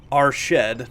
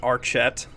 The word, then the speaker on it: Archet: are a few suggestions our shed not archet or our chad kellondim not celandim uh